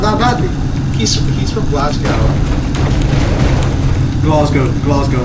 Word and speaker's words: Glasgow: Glasgow, not Glasgow. Okay, I can't pronounce it because I'm not Scottish.